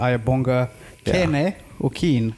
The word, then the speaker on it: Ayabonga Kene: joined by uh fellow comedian and friend uh aya bonga okeen how is it pronounced you however talk no how is the